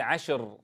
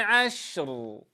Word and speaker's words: عشر: عشر عشر عشر لا نقول عشر عشر عشر هكذا كسرنا الشين الاصل ان تكون ساكنه تنبهوا بهذه الاليه والطريقه وليال وليال وليال عش عش عش هذه شين ساكنه ثم انطق الراء بعدها ار وليال وليال وليال عشر